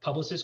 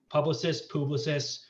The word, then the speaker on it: Publicis: So I applied for a job at Publicis Group, Publicis, depends what coast you're on. That is how it gets pronounced there.